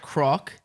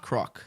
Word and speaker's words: Croc: And then croc is like the beginning of crocodile. Okay. Oh, okay. Like so she said that. croc.